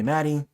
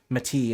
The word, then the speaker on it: Mati: Mati. Mati. Some people call me Maddie. Some people call me Matthew. But Mati is how you pronounce the name.